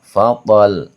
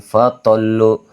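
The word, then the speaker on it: فطل: Ya, bacanya fathol bukan fatolu. Fatlu enggak boleh tapi wabilun fathol.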